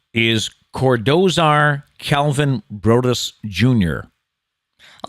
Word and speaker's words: Cordozar: fact today is snoop dogg's real name is cordozar calvin brodis jr i like how they threw